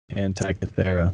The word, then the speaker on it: Antikythera: The what ancient Antikythera mechanism. Yeah. Anti-Cathedra.